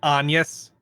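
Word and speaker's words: Agnès: Although at least that's a French pronunciation, I'm pretty sure, because her name is Agnes, but they pronounce it Agnes.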